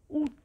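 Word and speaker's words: août: ऊत.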